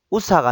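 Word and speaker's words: usa: 우사, 두하, 둘로, 우팟, 리마. 제가 지금 1부터 10까지 요 스펠링들을 가져온 이유가 있습니다. 보시면 강세 표시가 뒤에 모음 중에 1 보세요. 1. 우사가 아니고 우사 이렇게 되죠.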